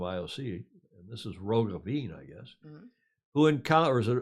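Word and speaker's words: Roggeveen: ioc and this is rogavin I guess who encounters a rogue ween there's a v pronounced like a w in Dutch like it is in German who encountered it on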